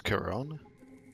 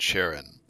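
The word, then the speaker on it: Charon: here to entertain you oh it's Kon shoot I always thought it was um I always pronounce it Sharon you know like cha and then Ron my name is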